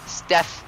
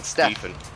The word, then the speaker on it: Steph: Curry or Steven Curry it's Steve Steph like SF Steph Curry oh I've been saying stepen I've been I've been saying St Curry you've been saying it wrong then P thank you